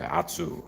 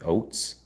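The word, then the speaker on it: Ohtsu: kind of sounds Japanese we said atsu you can make it like sound extra Japanese but it's actually oats so that spelling is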